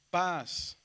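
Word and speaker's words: πᾶς: Paz. A ver, díganlo. Paz. Paz. Paz, sube y baja.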